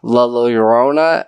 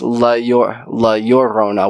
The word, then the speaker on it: La Llorona: It's not La Llorona, it's La Llorona. When you have two L's, it makes that U.